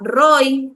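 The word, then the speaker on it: roeh: Una se escribe roe, aunque se pronuncia roy en algunas ocasiones.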